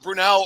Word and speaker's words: Brunell: too I recall I know exactly it's pronounced it's Brunel that's not a hard question